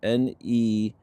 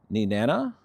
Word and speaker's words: Nenana: Additionally, there's another station in Alaska in, let's see how to pronounce it, Nenana, Nenana, I believe is how it's pronounced, Alaska.